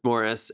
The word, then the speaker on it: Maurice: the world morris flitchcroft morris is spelt exactly the same way that you would spell maurice but it's morris and this is um